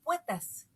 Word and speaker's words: poetas: nada más en México, dicen poetas, como si fuera con U, y es una palabra bisílaba, y los poetas de escritorio se dicen trisílabos, ¿no?